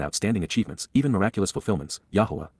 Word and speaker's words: Yahowah: achievements, even miraculous fulfillments, Yahowah, Yahowah, the proper pronunciation of the name of Eloah, God as directed in his Torah.